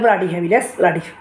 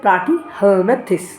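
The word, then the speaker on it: Platyhelminthes: নামটা অনেকে বলে ব্রাডিহেমিনাস, প্লাটি মানে নাম অনেকে উচ্চারণই করতে পারে না, তবে এটার নাম হচ্ছে প্লাটিহেলমিনথেস। অর্থাৎ প্লাটি শব্দের অর্থ কি, চ্যাপ্টা।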